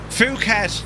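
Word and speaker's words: Phuket: Fuket, that's how you pronounce that. Not what you thought.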